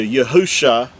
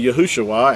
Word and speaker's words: Yahusha: the coming Mashiach, Messiah, is spelled with 5 letters, which translates into Yahusha, and that's the original text. Now again, with vowel points, it's going to say Yahushua, and that's because they vowel pointed and added an extra